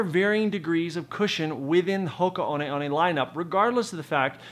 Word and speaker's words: Hoka One One: who are drawn to Hoka on on or Hoka one1 if you choose to pronounce it that way are done so